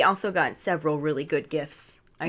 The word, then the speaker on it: gif: got several really good gifts i say gifts not gifs yeah cause we're team gif over here it just keep rolling because you know graphic is in fact a hard g thank you lastly we